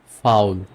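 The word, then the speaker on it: faul: ওকে আরেকটা কম্বিনেশন দেখি আ আর উ মিলে উচ্চারণটা হবে আও এর মত আও আমি আপনাকে এক্সাম্পল দেখাই লাওফেন ওকে লাউফেন কাউফেন ফাউল লাফেন মিন্স ওয়াক মানে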